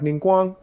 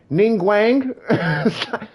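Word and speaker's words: Ningguang: chinese and being like like ninguang like ning guang and they're saying like is it ning wang no man it's ning wang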